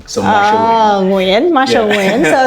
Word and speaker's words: Nguyen: Because not many people can pronounce Wing, so Marshall Nguyen, Marshall Nguyen, so it's WYN.